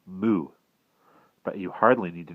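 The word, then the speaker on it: 木: In Mandarin, it is pronounced mu.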